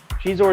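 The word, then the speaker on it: Xizor: How do you say Shizor? Do you say Shizor? Do you say Zizor? I think it's supposed to be Shizor. Shizor is how it is in the audiobook, so, What audiobook?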